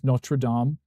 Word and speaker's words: Notre Dame: one team or whatever Notre Dame and it makes me rip my hair out because it's literally spelled the same as Notradam, but it's called Notre Dame here.